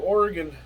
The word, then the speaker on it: Oregon: We were headed to Oregon a few years ago, and yes, I pronounce it Oregon, not Oregon.